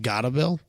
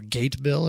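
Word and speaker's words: Gatebil: gotta bill okay or gate bill if you're an american if that's what it looks like g-a-t-e-b-i-l gate bill bill uh but apparently it's pronounced gotta bill or something closer to that um but it's kind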